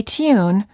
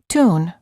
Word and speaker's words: tune: Similarly, you may have learned to say tune rather than tune.